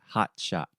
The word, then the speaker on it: hot shot: So, just really quick, let's talk about the pronunciation. So, most of the time, if I'm speaking normally in a conversation with my friends, I say hot shot. So, in the first T sound, I'm using what we call a stop T.